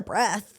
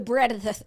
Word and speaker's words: breadth: Not the breath. The breadth. There's a D in there, right?